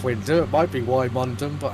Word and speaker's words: Wymondham: Winmondon, or Wymondon it's spelled. Wyndham. Wyndham, thank you.